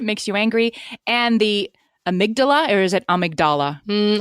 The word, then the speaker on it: amygdala: It has It has the word Amy at right at the beginning of it, which I love.